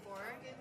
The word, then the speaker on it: corps: You write corpse and you pronounce it core.